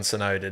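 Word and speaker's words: Tsunoda: got me there but you don't pronounce the t on sonoda do you so kinda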